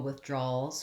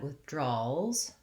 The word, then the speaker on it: withdrawals: Okay, you might have noticed when I said withdrawals, that S sound, or that letter S makes the Z sound. That's because when I add the letter S to make things plural, if I'm adding it to a voiced sound, I get a voiced Z sound.